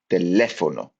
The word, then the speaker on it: teléfono: And tildes, I slipped into the English pronunciation there, tildes are used to indicate stress in a word. So when to emphasize part of a word. Teléfono, teléfono.